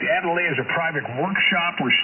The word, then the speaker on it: atelier: So the workshop of an artist is called either the factory, the shop, the atelier, I believe would be the French pronunciation, A-T-E-L-I-E-R, atelier, or workroom.